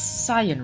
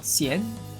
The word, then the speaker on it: Cyan: It's Cyan, right? Like Cyan, not Cien.